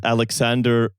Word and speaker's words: Aleksandar: A man whose name I believe is pronounced Aleksandar.